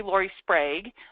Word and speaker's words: Lori Sprague: have written it fanatically wrong so it's actually Lorie spra um and I'm excited to be here today